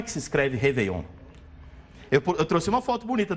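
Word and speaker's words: réveillon: e com o acento a gente vai continuar falando reveon por quê Porque no francês o acento não é igual na Língua Portuguesa que é pela sílaba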